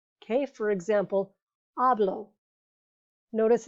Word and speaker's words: hablo: i a e o the emphasis not the accent mark but just the loudest part of the word is going to be on the second to last syllable okay for example hablo notice it's on the